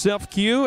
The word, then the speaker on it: CEFCU: We got CEFCU, pronounced Self-Q, as well as Comfort